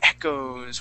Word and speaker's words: echoes: So the O-E here at the end only makes an O sound.